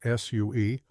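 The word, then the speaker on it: Sioux: of the Plains included the Sue pronounced Sue also known as the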